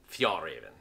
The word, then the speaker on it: Fjällräven: It has a Swedish pronunciation that if I tried to pronounce it, I would probably strain my tongue. But its American distributors refer to it as Fjällräven.